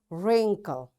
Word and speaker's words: wrinkle: Wrist, wrestling, wrong, ran, wrinkle, rack, wrap, wrench. You see, in all these words, because W is followed, after W there is R, so we don't pronounce this W.